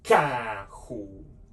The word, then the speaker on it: carro: You can pronounce this letter C like a hard C because this one, you can say carro.